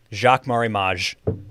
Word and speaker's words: Jacques Marie Mage: i've also learned how to say the name jacques marimage sunglasses man i would have never never come